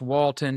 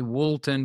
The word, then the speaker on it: Woulton: spell that because it's a, um, it's it's pronounced Walton, if you will, or some people say Walton because the way it's spelled, but it's wo t o n g r o p.